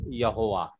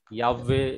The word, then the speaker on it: Yahweh: they mixed it together and the name is Yehovah. In Hindi Bible it is given Yehovah, but it is completely wrong name. The correct pronunciation of the name is Yahweh is the very accurate and the correct pronunciation